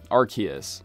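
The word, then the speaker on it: Arceus: the literal creator of CNO RCs sorry sorry archus I hate saying it that way but I guess it's the correct pronunciation anyway in order to see this glitch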